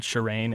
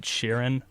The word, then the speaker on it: Sheeran: So I've always pronounced his name incorrectly. I've always pronounced it Ed Sheeran, and apparently it's Ed Sheeran.